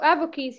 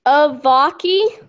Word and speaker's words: Avaki: Oh, Avoki's here. Hello. Hey. I think I said your name wrong. What is it? It's Avaki.